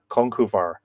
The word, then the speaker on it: Conchobar: Peter Kennedy, it's always been pronounced Conch Obar to me. Yeah, but then you see the B, right? The UBAR. Well, that would be lenited. That would have the shavo on it. Conchuvar. I would say V rather than B.